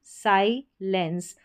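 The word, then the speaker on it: silence: यह है साइलेंस। यहां पर उच्चारण देख सकते हैं। साइलेंस एस आई को साई पढ़ा। ठीक है? और फिर एल जुड़ गया। इस ई एन सी ई में लेंस बन गया।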